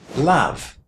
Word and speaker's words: love: Did you hear how I pronounced that letter o in the word love? It's a short a, isn't it? Love.